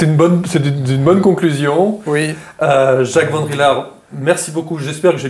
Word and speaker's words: Van Rillaer: J'espère que j'ai bien prononcé votre nom, Vandrillard. Oui, oui, oui. C'est un nom flamand et donc le E qui suit le A rallonge tout simplement le A.